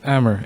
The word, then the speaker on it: Amir: Ammer in English. Yeah. Hammer without the H.